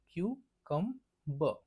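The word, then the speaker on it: cucumber: शब्द आहे तो आहे कंबर आता याच पण प्रोनन्सशन जरा लोक चुकवतात ह्याला क्यूकंब म्हणतो काय क्यू कम ब क्यू कम ब आता क्यू क ब ओके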